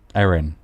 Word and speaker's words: Erin: Erin, the receptionist. It's spelled like Evan, but it's said like Aaron.